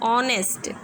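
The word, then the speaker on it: honest: जैसे इसे देखिए आप, ऑनेस्ट, एन ऑनेस्ट मैन, ओ किसकी साउंड निकल रही है, ओ, देखिए ये रहा ऑनेस्ट, ओ की साउंड निकल रही है।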